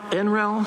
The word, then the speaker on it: Enel: rooftops already so um the uh this enel enal that's how you pronounce it they've actually done work here in